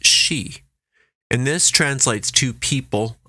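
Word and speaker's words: sidhe: for Fairy is she it's spelled s-i-d-h-e and it's pronounced she and this translates to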